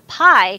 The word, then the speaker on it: Pi: Pi that's interesting is the Pi in Raspberry Pi is for Python. Even though it's spelled PI, it's actually like PY for Python.